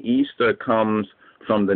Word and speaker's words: Ishtar: the Golden Fleece anyway the mother goddess ishar originally pronounced Easter so it tells you